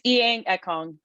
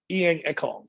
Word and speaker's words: Inyang Ekong: Inyang, now, I always technically say your first name wrong, but what's the correct way to say your name? It's Inyang Ekong. Inyang Ekong.